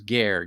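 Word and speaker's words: גר: The Hebrew word is ger, G-E-R. It's phonetically.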